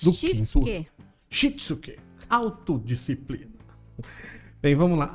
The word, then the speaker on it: Shitsuke: Alice, por favor, a pronúncia em japonês. Do quinto S. Do Shitsuke.